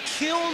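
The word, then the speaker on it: Kiln: all he's got from Kill Mississippi he said there's an in on the end of the kill but you don't pronounce it you just say kill I guess I always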